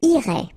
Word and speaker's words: irais: Same thing here, final S not pronounced.